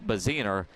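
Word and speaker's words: Bassuener: away baziner spells his name b-a-s-s-u-e-n-e-r but it's pronounced bezener as he's back to throw on second down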